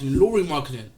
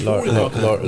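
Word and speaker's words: Lauri Markkanen: No, it's Laurie's Laurie marketing, not Lowry marketing. Alright, cool, whatever. Yes, Laurie Markkinen.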